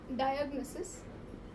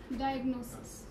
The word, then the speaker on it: diagnosis: It's not diagnosis, it is diagnosis. So the stress is about Nosis, right?